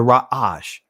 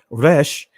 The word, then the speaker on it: resh: is the ancient hebrew this is the rash and the israeli language is pronounced right and this is it over on the side here i don't have the connector here but it's rash right and then when we see over here we see that it means head top rank beginning then we see the numerical value is 200. so again in the israeli language is resh and it means head